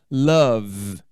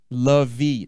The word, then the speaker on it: love: Love, nada de E. Love, não, tem esse E não.